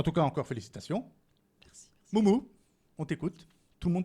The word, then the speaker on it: Mûmû: Ça s'écrit Mumu, avec des petits chapeaux dessus, voilà. C'est mon petit credo pour en fait me présenter, je l'aime bien. Parce que souvent, en fait, on dit Mumu, mais non, c'est Moumou.